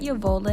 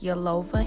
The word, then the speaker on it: Yolova: end of the video it's not your vola hair it's your lova hair and you guys definitely